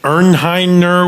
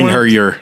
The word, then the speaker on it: Einherjer: Anal Noth Rock and Ernheiner, whatever that one. Einherjer.